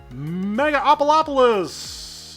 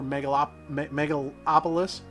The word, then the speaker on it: Megalopolis: Megaopolis! Yes, that is a misspelling and a mispronunciation. And I know it's the 80,000 mark. I'm pretty darn sure this is the milestone for Megalopolis.